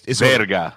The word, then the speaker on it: verga: Is it verga or is it veriga? Verga. Verga. Yeah. Chupa mi verga. There you go. Chupa mi verga.